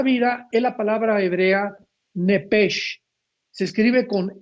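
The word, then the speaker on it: נפש: Pero la la sh en el hebreo se pronuncia como J. Entonces se pronuncia nepeg con la J al final.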